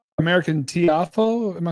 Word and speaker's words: Tiafoe: How American Tiafoe, am I saying it right?